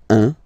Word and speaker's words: un: All right, so when you combine this u and n, you get the nasal sound un, un.